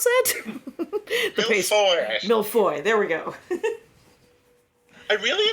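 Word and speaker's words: mille-feuille: How do you pronounce that? Millefeuille.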